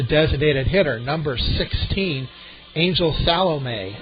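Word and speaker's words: Salome: fourth is a designated hitter number 16 Angel salom s a l o m e batting fifth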